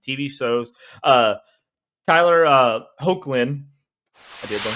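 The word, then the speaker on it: Hoechlin: have in the TV shows uh Tyler uh hulin I did learn how to say his last name um so Tyler Hulan has played Superman in a couple of different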